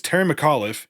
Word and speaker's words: Terry McAuliffe: It's Terry McAuliffe. You can see it in the spelling.